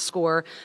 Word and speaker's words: SCOIR: That's the SCOIR. It's pronounced SCORE.